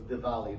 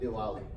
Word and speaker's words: Diwali: Diwali and remember that we would pronounce an Indian W more like a V so it's Diwali not Diwali just so you know